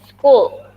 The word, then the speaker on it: school: And then school. School. Bacanya pakai K.